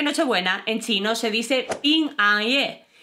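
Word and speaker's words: 平安夜: Pues porque nochebuena en chino se dice PINGANYE y manzana se dice PINGGUO y ya sabes lo que les gusta a los chinos los juegos de palabras.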